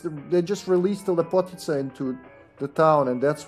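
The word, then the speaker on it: Lepotitsa: So it's Lepotica would be how you pronounce it, and we wouldn't spell it with TS. It would be a C, but I guess they did it so people wouldn't pronounce it as Lepotica.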